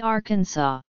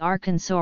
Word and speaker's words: Arkansas: representing the sound it should be pronounced in three syllables with the final s silent the a in each syllable with the Italian sound and the accent on the first and last syllables the pronunciation with the accent on the second syllable with the sound of a in man and the sounding of the terminal s is an innovation to be discouraged purchased by the United